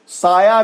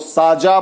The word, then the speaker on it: साया: इसी तरह य को ज बोलना, यजमान को जजमान बोलना, साया को साजा बोलना।